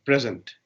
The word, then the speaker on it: present: stress in this word there are two syllables here pray and send sometimes i can put stress in the first syllable sometimes i can put stress in the second syllable so how what is